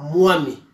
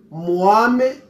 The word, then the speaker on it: Mwami: Et on ne dit pas Mwami. Il faut prononcer ce mot avec l'accent léga. On dit alors Mwame Bami et non pas Mwami.